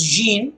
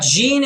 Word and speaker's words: Jean: her good morning Jean now I pronounce this as Jean because I see English pronunciation again if you want the French sound it is something else but Jean is also the correct sound so I'll stick to what is simpler good Nani Jean the